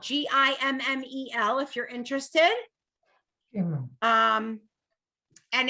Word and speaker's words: gimel: so this is a gimel g-i-m-m-e-l if you're interested um and it's a guttural a guttural g not a soft g right not giraffe it's like uh gazebo you couldn't think of